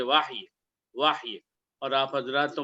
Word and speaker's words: وحی: لفظ وحی سنا ہے، یہ وحی اردو پروننسیشن ہے، اور اگر عربی میں صحیح تلفظ کے ساتھ بولا جائے تو ہم بولیں گے واحی واحی۔ اور آپ حضرات